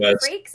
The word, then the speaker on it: Frakes: I think it's Jonathan Frakes. Is that how you pronounce it?